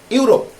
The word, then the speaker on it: Europe: ই এবং you combinedly used হচ্ছে at the beginning of any word of a noun, and the pronunciation is u, not like e. E is silent here.